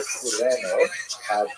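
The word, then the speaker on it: Κυρήνη: I looked it up and I've heard it pronounced as Cyrene in English. In Greek, it would have been something like Kurene. So I'm probably going to say Kurene, and I'll probably be wrong, but this wouldn't be the first time.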